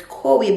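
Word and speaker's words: Coee: I don't know why I kept on saying koi bags, so it's C-O-E-E, so it's koi bags. I made a mistake with the pronunciation in that video.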